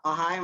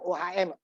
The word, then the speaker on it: ohm: 1000 OHM Pak. Jadi 1 kilo 1000. Ini apa nih? Jadi kalau jangan kamu ini kan bacaannya OHM, ohm ya bacanya. R itu dalam ohm bukan OHM, ya?